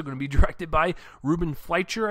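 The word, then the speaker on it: Ruben Fleischer: to be directed by Ruben figher I believe is how he pronounced his name and he's the director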